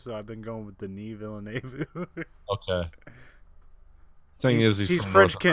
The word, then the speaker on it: Denis: Dennis or No, Denis.